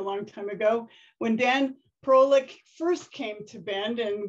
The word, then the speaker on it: Parolek: I was saying it wrong for 4 years, Parolek.